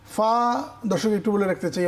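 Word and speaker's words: ف: গাইন খ বল দেখি গাইন খ বেশ মাশাল্লাহ গইন খ ফা ফা দর্শক একটু বলে রাখতে চাই অনেকে ফা উচ্চারণ করেন দুই ঠোট মিলিয়ে ফা না এভাবে করা যাবে না উপরের দাঁতের আগা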